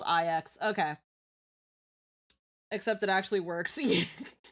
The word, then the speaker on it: IX: Uh IX the Nihility is pronounced more like okay. So, not nine.